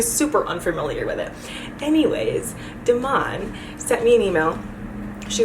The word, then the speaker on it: Demain: I was so excited because I got an email from DEMAIN.